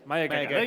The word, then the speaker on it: Mayageka: Right, let's get the pronunciation down straight away. Mayageka. Mayageka.